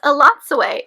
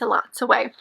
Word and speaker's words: Elatsoe: month of January was Elatsoe by Darcy Little Badger. Yes, I said it wrong. Most times I mentioned it before, but according to the audiobook and even in the book, it's Elatsoe.